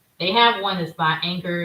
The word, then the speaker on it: Anker: They have one that's by Anchor.